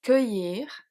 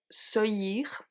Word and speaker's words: cueillir: We have cueillir, which otherwise would be cueillir. It makes no sense, doesn't exist actually.